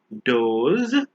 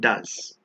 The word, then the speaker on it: does: DOE doe is actually a female deer. So if there are more than one, we call them does. However, the same word is pronounced as does, as in a verb, do and does.